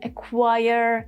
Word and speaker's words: acquire: and raspberry and then Q whether is silent or not is dependent on when you have CQ with C sound do you consider that C sound because of C or because of Q if it's because of C then Yeah, Q is silent like in acquire, acquaintance, and acquisition.